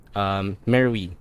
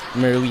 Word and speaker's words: Merowe: Jeddah, Saudi Arabia to Merowe, Sudan. Binasa ko yung, pinag-aralan ko pa yung pronunciation niya. Merowe daw. Hindi Merowe. Merowe. Actually, ganun eh. Merowe. May tigas yung R.